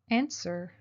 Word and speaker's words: answer: they ask for money answer insert the telephone the W of answer is silent John answers correctly try I